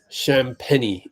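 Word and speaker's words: Champagnie: There's Julian Champagny. Champagny is how they have the official pronunciation.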